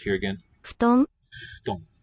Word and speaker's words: 布団: Oh, note how the FU syllable is sounded. It's a F with a two-lip fricative. この布団は新しいです。 No teeth involved. Here again. 布団、 Futon. Futon.